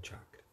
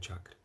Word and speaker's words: chakra: Às vezes a gente vê algumas pessoas falando assim, chakra. É assim que a gente escuta, chakra. Não tem. Não é assim que pronuncia. A gente pronuncia chakra, ok?